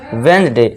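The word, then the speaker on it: Wednesday: अब यहाँ भी देखिए हमारा एन से पहले क्या है, डी है, तो अभी हमने रूल क्या पढ़ा है ना, और जी से पहले डी हो तो डी हमारा साइलेंट हो जाएगा और इसे क्या पढ़ेंगे हम, वेडनेसडे।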